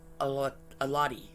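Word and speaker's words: Xolotl: Now they worshipped a god called Oh gosh, this is completely Alati, okay? But it starts with an X. X is silent.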